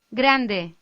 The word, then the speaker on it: grande: Grande. In this exercise, we are faced with how tricky it is to lightly roll the R in grande.